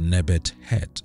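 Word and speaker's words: Nebet-Het: on to number nine nephtis or her name is also pronounced nebet head in ancient Egyptian was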